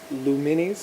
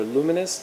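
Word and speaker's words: Lumines: So we've got Luminis, or Luminous, depends on how you want to pronounce it.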